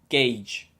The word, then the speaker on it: gauge: the early 15th century you pronounce it like gauge gauge as a verb it